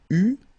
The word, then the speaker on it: eus: Okay, so j'eus, final S not pronounced, tu eus, final S not pronounced, il eut, final T not pronounced, elle eut.